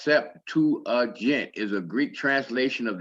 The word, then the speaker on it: Septuagint: you the little scrolls the septuagint pronounced sep 2 agent is a greek translation